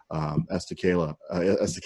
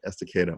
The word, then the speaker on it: Estacada: Gresham, Troutdale, Fairview, Estacada, and I keep saying it wrong, Estacada, Molalla.